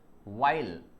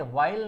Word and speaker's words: while: वाइल, इसे वाइल नहीं बोलते हैं, एच साइलेंट हो जाएगा, यहाँ पर बोलेंगे विश वाइल मीटिंग।